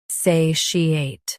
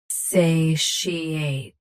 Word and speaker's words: satiate: SATIATE. SATIATE. Stress say first. Keep she smooth. Then ate clean.